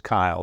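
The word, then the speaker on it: Caol: Old Man of Kyle it's it's spelled c-a-o-l and I wasn't really sure how to pronounce that until I saw the English uh subtitle on the street signs and it is Kyle the old boat of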